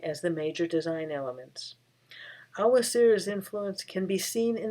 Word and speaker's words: Awa Tsireh: It should be noted that the common pronunciation of his name is Awa Tsireh. However, his family confirmed to Diana Pardue, chief curator at the Heard Museum in Phoenix, the proper pronunciation is Awa City.